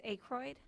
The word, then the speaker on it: Ackroyd: How'd I say your name wrong? It's Ackroyd. And I said Ackroyd. Yeah, it's Okay, Ackroyd.